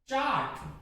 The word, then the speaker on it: chart: जैसे CHART, चार्ट, चार्ट नहीं, चार्ट नहीं, मैं चार्ट लेने जा रहा हूं, नहीं मैं चार्ट लेने जा रहा हूं।